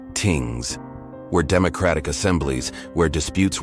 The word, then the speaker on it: things: Their community gatherings called things, pronounced tings, were democratic assemblies where disputes were settled and laws created through consensus.